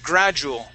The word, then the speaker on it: gradual: Now this word here is gradual. Okay. Now that D, we don't pronounce that like a D here. It's going to be more like a J sound.